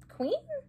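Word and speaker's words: Qveen: And this is in Queen? But it's spelled different.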